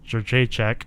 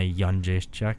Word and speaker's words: Jędrzejczyk: And the last fight I want to cover on this card is Joanna Jędrzejczyk Joanna Jędrzejczyk. versus Tisha I'll Torres. say it. I don't know where the yun comes from. Joanna Jędrzejczyk.